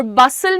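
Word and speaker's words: bustle: हसल लिखा है। पर हम बोल कैसे रहे हैं? हसल। हसल यहां पे टी साइलेंट है। और बसल में तुम्हारा टी साइलेंट है।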